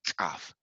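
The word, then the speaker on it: ቀ: So for the kaf, for this fidel here, its pronunciation is generally harsh. The back part of the palate is contracted while the breath explodes outward. Let's say kaf, like a ka, like a ka, ka.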